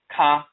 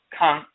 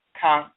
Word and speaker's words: kan: With the nasal A, it's Kan. Instead of Ka, it's Kan.